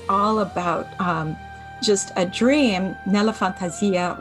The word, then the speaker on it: Nella Fantasia: Nella Fantasia, which is the Italian pronunciation, it's in my fantasy or in my imagination.